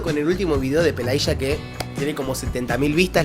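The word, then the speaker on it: Пелагея: Sí, me dijeron que se pronuncia Pelaya, no Pelaya, que en Argentina la y es sh.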